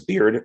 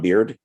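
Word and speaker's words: Beaird: It's written by John, I believe he pronounced his name as Beard, John Beard.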